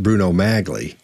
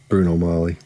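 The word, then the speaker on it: Bruno Magli: 10 and a half's he knows it's not pronounced bruno magley it's not pronounced and in the circles he ran in somebody would have said dude don't don't don't say magling it's it's bruno molly so somebody would have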